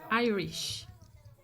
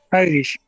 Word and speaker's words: Irish: but pronunciation is I Irish Irish good um think about iPhone the same I sound Irish Ireland iPhone the same pronunciation there France French thank